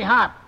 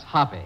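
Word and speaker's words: Hoppe: i hired five geniuses every day who's willy hop national billiard champion and uh it's pronounced hoppy that's what i said anyways i didn't ask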